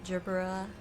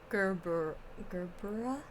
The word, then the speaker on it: Gerbera: So Gerbera, apparently, is how it's pronounced.